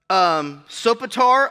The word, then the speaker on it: Sopater: Sopater of Bereus. Yeah, there's not even an S in there, but somehow it's pronounced with an S.